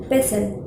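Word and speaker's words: pestle: पेर में आती है उसको कहते हैं पेसल पेसल तो टी य साइलेंट है तो इसलिए यह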